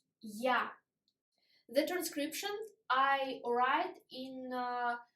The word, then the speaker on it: я: Ya. The transcription I write in square brackets in Russian. Yo. Yo sounds like York. Ya sounds like yard.